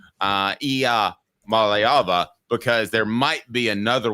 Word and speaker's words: Iamaleava: So it's a good thing we have learned how to pronounce his name, Iamaleava, because there might be another one in the fold down the road.